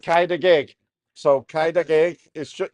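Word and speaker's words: Cau dy geg: And she said, Kaida gig.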